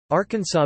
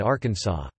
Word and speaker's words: Arkansas: In 1881, the pronunciation of Arkansas with the final S being silent was made official by an act of the state legislature after a dispute arose between Arkansas's two U.S.